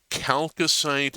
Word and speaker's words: chalcocite: It is chalcocite and chalcopyrite, hard CH like chaos because of the Greek root.